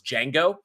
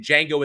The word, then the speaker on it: Django: And if you remember, when in Django Unchained, when Django is at the bar, and then the other guy walks up and he says, what's your name? It says Django. The D is silent.